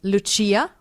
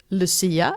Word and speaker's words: Lucia: Since Lucia, or Lucia as we pronounce it in Swedish, is one of our biggest winter traditions.